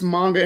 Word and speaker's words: manga: How do you pronounce it? Yes, so it's manga.